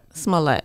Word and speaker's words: Smollett: too when Jesse is it's mullet or Smollett Smollett okay Smollett sorry Jesse I've been